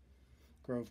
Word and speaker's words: Grove: had these nice little groove connectors Grove connectors I keep mispronouncing that got a nice Grove